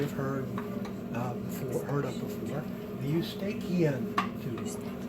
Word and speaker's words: Eustachian: heard of before, the Eustachian tube. Not Eustachian, because how do you pronounce the CH in anatomy? Okay. Now it's like a K, exactly. So the auditory tube is also called the Eustachian tube.